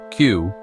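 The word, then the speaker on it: 九: The Japanese word for 4, sure, is pronounced the same as the word for death. Meanwhile, 9, Q, sounds almost identical to the word for suffering or torture.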